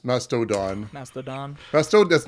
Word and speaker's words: Mastodon: I found out several times that Mastadon is spelled with an O on the end or masto on the end madono M Mastodon Mastodon Mast that's not Mast I always think